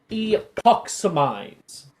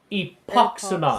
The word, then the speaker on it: Epox: cast our first spell the spell is pronounced epox say it with me epox very good very good